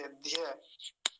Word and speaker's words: ध्य: पूरी हो जाएगी द ये कैसे बनता है द का हलंत और य का इन दोनों से मिलकर बनाए नहीं तो इन दोनों का इसका उच्चारण कैसे करते हैं ध करते हैं ऐसे ध्य विद्या कितनी बार कई